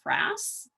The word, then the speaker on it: frass: something that's known as frass that's f-r-a-s-s rhymes with grass um and it looks